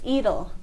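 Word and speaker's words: Edal: in Ring of Bright Water so um it's eedle they say e can you tell me about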